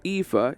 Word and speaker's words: aether: Ether or aether, chat? I always go with ether in this game. I always say that the A is silent.